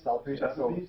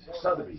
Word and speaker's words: Sotheby's: Selfies? Sotheby's.